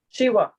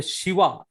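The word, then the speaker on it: שווא: pronunciation of the Shiva, whereas in modern Hebrew, they will not pronounce it. They will not give any sound.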